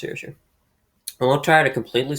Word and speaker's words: Saoirse: I think it's pronounced Saoirse.